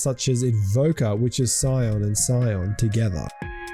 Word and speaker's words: Scion: How do you say that? Scion. He is probably silent, I would think. Yeah. Scion.